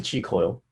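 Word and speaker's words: Qi Coil: frequency on the app, and use the chi coil while you do that exercise.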